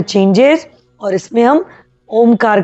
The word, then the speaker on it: ओम: Inhale, जितना आपसे हो, और ये ओम तीन वर्ड से बना है इसलिए हम अ उ और म, तीनों का अलग अलग उच्चारण करेंगे।